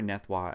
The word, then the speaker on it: Nethroi: Well, being a French-Canadian, Nef, that's pretty straightforward. In R-O-I, we pronounce Wa, and Wa is French for king. So, I prefer Nethroi as a name compared to Biolante, but that's just me.